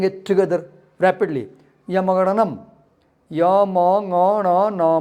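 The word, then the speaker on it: ञमङणनम्: Yamagananam.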